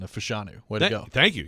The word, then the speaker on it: Fashanu: You have perfected your pronunciation of Fashanu.